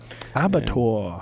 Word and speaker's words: abattoir: Abattoir. Abattoir.